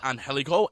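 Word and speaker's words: Angélico: Defeated Angelico and Jack Evans. That was a good match. Solid match. Very good match too. Yeah. You nailed the pronunciation too. Thank you. Pronunciation. Angelico.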